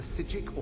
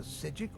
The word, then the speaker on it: Psijic: Yeah, the P is silent, like in preposterous. I'm afraid I didn't see anything. Can you tell me more about what you saw? Some monk from the Order. The Psijic Order?